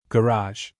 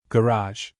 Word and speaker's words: garage: Garage. Garage. In American English, United States, garage. In British English, United Kingdom, garage.